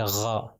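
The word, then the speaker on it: غَ: ہے، اس کے اوپر جب زبر آ جائے تو اس کو کہیں گے آ، آ، اور غین جو ہے نام ہے اس کا، اور اس کا تلفظ جب اس کے اوپر زبر آ جائے گا تو اس کو کہیں گے غا، غین کے اوپر جب زبر ہے تو غا ہو جائے گا۔ پھر اس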